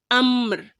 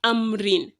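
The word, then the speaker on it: أمر: with a school so we are pronouncing it as ammr as amir and not amrin and this is the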